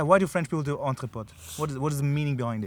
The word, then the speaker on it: EntrePOD: EntrePOD. EntrePOD. EntrePOD. It sounds a bit like octopus.